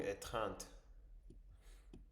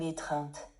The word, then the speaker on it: étreinte: quittèrent après une longue étinte. Attendez, attendez parce que je ne pense pas avoir prononcé ça correctement. H Ils se quittèrent après une longue étreinte.